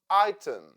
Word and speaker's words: item: E as sound schwa, like in the word item. The second syllable is unstressed, so E sounds like So item.